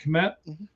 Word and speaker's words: Kmet: Is that how you say it, Kmet?